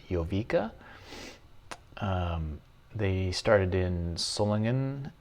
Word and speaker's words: Jowiga: a German company so I believe the manufacturer is pronounced yoa um they started in